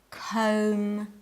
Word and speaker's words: comb: In the following words, the B is silent. Comb, doubt, thumb.